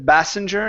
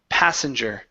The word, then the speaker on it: passenger: of these here so instead of benger it's p p passenger passenger good he saw